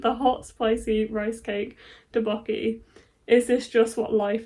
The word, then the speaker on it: tteokbokki: That would be pronounced tteokbokki. Tteokbokki.